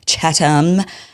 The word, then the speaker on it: Chatham: He makes fun of my Yesterday I was saying Chatham House rules. Apparently it's Chattam.